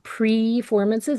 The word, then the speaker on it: Preformances: So I ran a concert series for 13 years called PREFORMANCES. It's like performances, but it's spelled PRE formances.